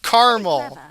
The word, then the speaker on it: caramel: on the pronunciation of caramel my fiance and I have thought about this actually it is two syllables I do not care that it's spelled as if it has three syllables I grew up on